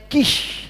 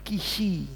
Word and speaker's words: Kis: Nah, kalau Saudara wong jawo kita wong jawo Saul anak kisi itu ndak boleh bacanya kish ya itu jadi bukan kishi itu kan daging saudara ya.